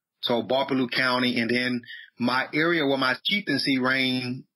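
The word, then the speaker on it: Gbarpolu: So my county is referred to as Barpalu, spelled with a G. The G is silent. G-B-A-R-P-O-L-U, Barpalu. So Barpalu County, and then my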